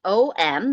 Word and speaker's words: Om: of the universe and it's om that's how it's spelled om it's actually made up of three symbols that sound like ah hmm it's more like a vibration over your lips as you make that final syllable and those three parts